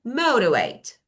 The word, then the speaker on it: motivate: And we have motivate. Motivate. Motivate. Motivate. Motivate. First syllable.